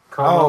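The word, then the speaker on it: Comeau: Como is pronounced Como.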